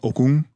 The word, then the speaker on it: Okung: You mean okum? Yeah. Okum. No. Okum. The G is silent. It comes from your throat.